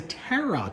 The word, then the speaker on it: tarot: It's a tarot deck. A tarot. Like a carrot. You eat the future. Each card tells you how to eat the future. It's pronounced like parrot.